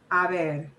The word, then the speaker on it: a ver: And now I want you to hear how it sounds when I've got it sandwiched between the a and the e. A ver.